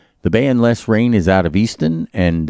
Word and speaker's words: Lesrayne: The band Les Rain is out of Easton, and if you want to know more, just go online on Facebook and look up Les Rain, and it's spelled Lesrayne.